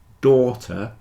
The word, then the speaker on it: daughter: Daughter has a long or sound.